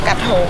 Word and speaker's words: Krathong: Krathong. At? Krathong. Krathong? Krathong. Okay. Krathong. Krathong or Krathong? All right, so it's either Krathong or Krathong. We got that far. It must be Krathong because uh-oh, the festival there we go.